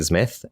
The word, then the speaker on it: Zmith: It's it's like Smith but with a Z. Uh, so you say it like Smith and I just kind